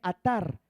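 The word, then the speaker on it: עָתַר: la palabra en hebreo se escribe atar a t a r con acento en la segunda y dice raíz primaria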